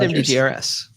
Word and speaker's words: MDGRS: Is it Mudgers? Letter by letter. No, you say MDGRS. You could say that. I've talked to him a handful of times, and I always call him MDGRS. He hasn't corrected. Please tell me. Someone tell me the correct way to say that. I asked him. He said MDGRS.